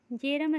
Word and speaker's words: Bjerrum: अब तीसरा क्या है, तीसरा का नाम है जेरम स्कोटोमा। अब इसका स्पेलिंग क्या है, BJERRUM।